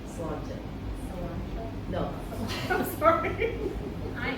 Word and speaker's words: Sláinte: Sláinte. Cilantro? No. I'm sorry. I am part Irish. I don't think you're Irish. The Irish people are frowning at you right now. Sláinte. Salon.